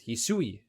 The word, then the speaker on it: Hisui: Today it is Hisui. Thanks for the comment section for letting me know how to pronounce her name.